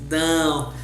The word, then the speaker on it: dão: Here it's a nasal sound in Portuguese, dão.